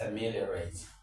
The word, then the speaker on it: ameliorate: Of course, when you have a word ending rat, most of the time the stress falls on the third syllable from the back, okay?